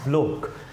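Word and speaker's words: Bloch: Felix ब्लोक, इसको गलत pronounce नहीं करना, दैट वर्ड इज़ ब्लोक।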